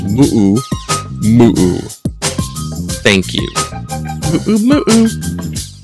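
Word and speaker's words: muʻumuʻu: And when I was a kid, it was moo-moo. That's how I learned it. Then they're all correct pronunciation of Hawaiian nowadays. So it's moo-oo, moo-oo.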